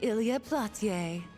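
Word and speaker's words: Ilya Platiere: I am the one and only Ilia Platier. That is definitely not how I've been pronouncing that this whole game.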